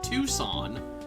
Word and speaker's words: Tucson: Oh, that's right, and I think recently I found, or discovered that, well, I believe the correct pronunciation of this town is Tucson, like Tucson, Arizona.